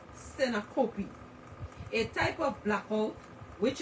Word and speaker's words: syncope: Many people, including doctors, assume that blackouts are due to epileptic seizures, but much more commonly, they are due to syncope, pronounced syncope, a type of blackout which is caused by a problem in the regulation of blood pressure or sometimes with the heart.